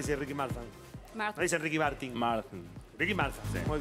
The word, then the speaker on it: Ricky Martin: ¿El cantante Ricky, cómo lo pronunciamos? Ricky Marfan. Se dice Ricky Marfan. ¿Saben que dice Ricky Marfan? Marfan. Dice Ricky Martin.